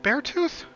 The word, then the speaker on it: Beartooth: Beartooth, isn't it Beartooth? Did I get the name wrong? It's tooth, like the things in your mouth.